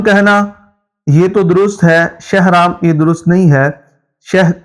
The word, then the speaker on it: شہرام: وہ الگ بات ہے۔ تو اصل میں یہ شین کے زبر کے ساتھ پڑھا جاتا ہے، ہاں ساکن ہے، آگے را کے اوپر زبر ہے، آگے الف